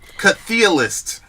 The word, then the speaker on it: Chthe'ilist: Chthe'ilist is how you pronounce it. Oh, okay, Chthe'ilist.